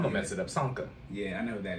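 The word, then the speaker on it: Csonka: his last name, but Sanka. When the Dolphins went undefeated. Let's go say the C is on silent. I'm going to mess it up. Sanka.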